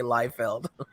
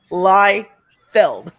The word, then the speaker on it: Liefeld: bugs me so much when you say live felled I mean it's in the name it's spelled lie filled whatever right oh look